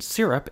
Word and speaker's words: syrup: For instance, in the word explode, the emphasis is on the second syllable, whereas in syrup, it's on the first.